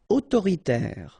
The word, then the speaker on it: autoritaire: Autoritaire. So final e not here.